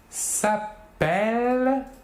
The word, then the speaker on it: s'appellent: la première personne du pluriel nous diront ils s'appellent par contre nous diront avec un seul l